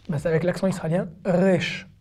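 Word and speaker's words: ריש: basse avec l'accent australien rech rech y'a pas de r roulés en hébreu c'est les israéliens d'origine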